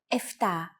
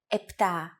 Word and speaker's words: επτά: Sometimes, though, especially in casual conversation, Greeks also use efta instead of epta, ochto instead of okto, and ennia instead of enea.